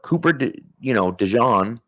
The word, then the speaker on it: Cooper DeJean: Sure, Cooper, DeJean, right, which that is the correct pronunciation, by the way.